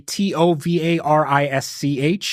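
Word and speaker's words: товарищ: So in Russian, it would be Tovarisch if you were to spell it phonetically.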